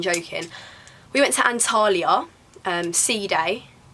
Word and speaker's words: Side: We went to Antalya, Sea Day was our nearest town. Like, it's spelt side though.